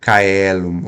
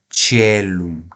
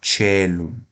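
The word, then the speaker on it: caelum: significa convento tirca tá então aqui veja não é circa é tirca não é celum ou kum é telum telum tá o d é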